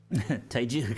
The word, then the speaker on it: Teiyu: Teiyu, isn't it?